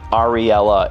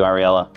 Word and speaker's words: Ariella: Ariella, it's three syllables. Every syllable just has such a soft, nice sound. And it rings together in such a beautiful way.